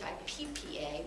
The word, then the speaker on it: HIPAA: really began um hi PA AA some people spell it like hippo h hi PPA but it's actually hiaa Hippa began I think